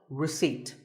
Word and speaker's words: receipt: As in word number 24, receipt. The P is silent.